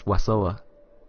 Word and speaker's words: Wasoa: Oh, I've said your name wrong, I've just realised it's Wasoa.